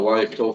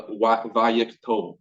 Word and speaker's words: wayyiqtol: This form is called the wayyiqtol. You actually pronounce the W as a V. You can pronounce it as W, doesn't matter.